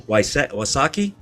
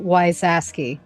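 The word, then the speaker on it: Wysocki: the your collaborator uh how do you say this man's name um Bill osaki his name is uh Bill wysaski okay I pronounced it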